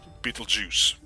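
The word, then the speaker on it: Betelgeuse: yeah that is one of the interesting things Beetle Juice well that's how it's pronounced it's actually not spelled as Beetle Juice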